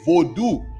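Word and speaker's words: Vodou: it like that but we say Vu when you talking about Haitians we say vodu v v o d o u now if you saying Voodoo v u du only place I've seen that spelled like that is Dominican Republic Dominicans usually spell it like that oh you love my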